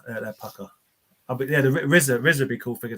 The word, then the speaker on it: RZA: RZA. Pronounced RZA.